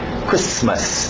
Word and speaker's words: Christmas: Alright, do outro lado, Christmas, o T é mudo, Christmas, não tem medo dos S's, Christmas.